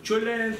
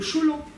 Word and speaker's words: tcholent: Alors, certains disent tcholent, tchoulent, cholent. En fait, ce sont des mauvaises prononciations orientales. Pardon pour les Ashkénazes qui entendraient ça, mais il faudrait dire le cholant.